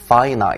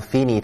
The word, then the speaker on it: finite: 意一下看双元音哈，finite，别念成 finite 了，finite，有限的、限定